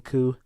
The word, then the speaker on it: coup: Basically, Tia, when we were saying a coup, we're talking about the coup. Basically, coup d'etat. That's because you pronounce it with a P at the end. Mm-hmm. Well, yeah, the P is actually silent in coup.